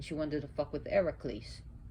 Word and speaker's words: Heracles: And when he got up, and one of the stories of when she wanted to fuck with Heracles, which is Hercules, or we say Hercules, but it's Heracles, and he really thrashed the other gods.